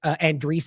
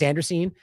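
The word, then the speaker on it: Andreessen: Elites now I guess his name is Garvin pronounces it Andre I thought it was Anderson but Andre seems to make more sense but Mark Andre another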